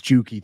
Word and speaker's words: Juki: And Juki for $2 says, you're saying it right. It's Juki.